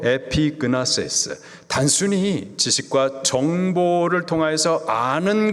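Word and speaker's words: ἐπίγνωσις: 여기서 안다, 헬라식 발음으로 에피그나세스, 단순히 지식과 정보를 통하여서 아는 것, 이것을 말하는 것이 아니라 관계적인 알을 말하는 겁니다.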